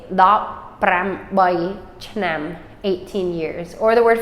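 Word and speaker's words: ឆ្នាំ: Year is CH, and then nam, chnam, chnam. Right? It's actually only one syllable, but chnam is the word year.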